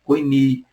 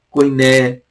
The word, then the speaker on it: koiné: embora um grego diferente, koini, koiné, kini, depende da sua pronúncia aí.